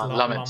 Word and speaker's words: Lammens: So Lammens, or however you pronounce his name. Yeah, it's Lammens.